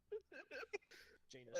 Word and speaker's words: Janus: Janus And- rhymes with anus.